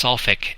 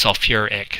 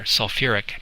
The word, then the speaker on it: sulfuric: an extra syllable so instead of saying it's selfic acid as our general format tells us you actually add the the syllable so it's sulfuric so you get the whole